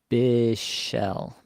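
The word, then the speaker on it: Bichsel: me the pronunciation here bishell bishell okay that's actually easier bishell all right according to the 2023 24 NHL pronunciation guide It's lean bishell Le and Bell I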